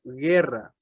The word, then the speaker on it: guerra: También tiene un sonido suave delante de las combinaciones UE o UI. Por la U no se pronuncia. Por ejemplo, guerra, guiso, águila.